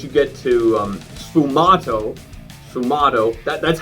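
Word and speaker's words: sfumato: i find once you get to um sumato sumato that's how you pronounce it i googled it and i googled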